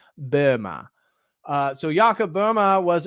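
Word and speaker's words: Böhme: So, I don't speak German, but I know that you're technically supposed to pronounce his name Burma.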